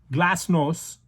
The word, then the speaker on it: glasnost: it's a russian word i'm going to spell it to you in english g-l-a-s-n-o-s-t glass-nose and perestroika perestroika is